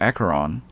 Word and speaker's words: Acheron: my in a monologue everyone calls her acaron but something just tells me that she's an asheron considering that she turns